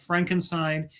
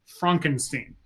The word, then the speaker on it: Frankenstein: doctor and um he refuses to be called Frankenstein his he says his name is pronounced Frankenstein and so yes well the first name of